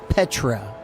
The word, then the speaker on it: Petra: no because it's I'm excited though it's really Petra so spelled spelled how do you spell it PE tra but originally it was known